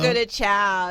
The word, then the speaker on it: Fogo de Chão: Fogo de chão.